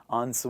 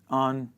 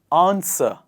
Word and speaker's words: answer: But sometimes people pronounce the W sound in an exaggerated manner, and they say answer. War. Not right. It is answer. One more time. It is answer.